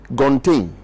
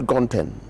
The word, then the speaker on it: Gontain: Gontain. Okay, Gontain. Not Gonten. Gontain.